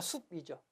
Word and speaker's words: 숲: 피읕 받침을 썼지만 실제 발음은 수프가 아니고 그냥 숲이죠.